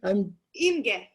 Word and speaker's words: Imge: Imge.